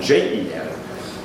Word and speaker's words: Ren: The question of character is discussed under his heading of Ren. Some older transliterations have J-E-N, Jen, and which is a more accurate pronunciation. Depends on the region of China. Really, it's somewhere in between, if you think.